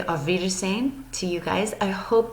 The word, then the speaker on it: auf Wiedersehen: theaters same figures name that W kind of makes a V sound so I am gonna say auf wiedersehen to you guys I